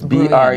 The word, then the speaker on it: Bruijns: So I believe his name is pronounced Bruijns. It's Bruijns.